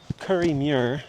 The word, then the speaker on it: Kirriemuir: We got about 2 and 1/2 miles into Curry Mir as I just figured out what it's how to pronounce it.